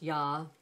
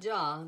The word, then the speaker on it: ja: two German words now the first one is pronounced yah not Jah but yah making the Y sound and Yater uh with